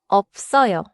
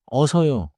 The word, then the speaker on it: 없어요: It has 비읍, 시옷 받침 in spelling, and the natural sound is 없어요. 없어요. Do not say 어서요. Keep the lip stop first.